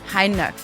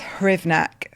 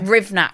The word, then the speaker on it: Hrywnak: Heinrich. You'd never know. It's spelled Hrywnak. I don't know. And it's Hrivnak. Hrivnak. Hrivnak, yeah. Rivnak. Yeah. So silent K. No, silent everything.